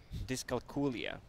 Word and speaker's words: dyscalculia: Dyscalculia. Well, can you do it in Disco? non-Croatian or? Yeah, I can't even pronounce that.